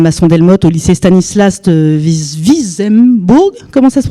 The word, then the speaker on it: Wissembourg: Notamment cet après-midi, nous sommes allés avec Madame Masson-Delmotte au lycée Stanislas de Wissembourg. Comment ça se prononce ? Wissembourg.